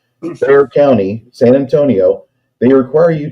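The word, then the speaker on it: Bexar: heads, certain counties like Bayer County, which is spelled, it's spelled Beexar County Law, B X A R Bear County, San Antonio, they require you to have certifications for you to do this.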